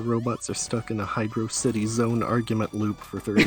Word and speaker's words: Hydrocity: are stuck in a hydro city zone argument loop for 30 years pronounced it wrong by the way nope there's in the sound test for sonic origins it breaks out hydrocity as hydro city and it's interesting no